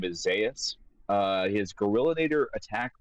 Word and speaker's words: Zaeus: Then how is it pronounced? Go ahead. Yeah, it's Zas after uh Dr.